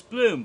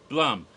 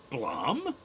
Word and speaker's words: Blum: chat shows no so I just thought it was bloom but it was Blum and I didn't find this out till Tuesday cuz he was in the announcement video himself hello I'm Jason Blum that's right Blum oh I've been wrong for a whole decade so yeah so Blum